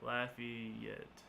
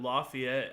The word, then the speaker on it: Lafayette: could be a liffy it pronounce like Laffy Taffy La yet La yet okay thank you I I see I always called it Lafayette I don't know why